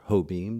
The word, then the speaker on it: Jobim: it's by Antonio Carlos Jobim or hoe beam depending on your pronunciation the song goes like